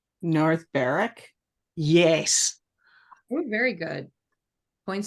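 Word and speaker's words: North Berwick: and this in the next couple of names North Barrack yes oh very good points well done two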